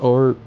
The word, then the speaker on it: o'er: I still heard or us all. Like or, O apostrophe ER, where they don't pronounce the B.